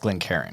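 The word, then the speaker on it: Glencairn: too is a slightly off topic these they're pronounced Glen Karen right yep yeah those are Glen Kens so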